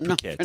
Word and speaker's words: Phuket: Not fuck it, surprisingly. yes, not you actually how it's pronounce it pronounced. Phuket.